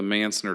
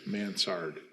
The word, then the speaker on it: mansard: boat on that one what about the mansnard roof then mansard manzard well then i've been saying it wrong i just learned that in real time m-a-n-s-a-r-d answered yeah those